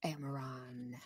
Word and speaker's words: Amaron: thus is the end of the record of amaron whoa it wasn't pronunciation there and thus is the end of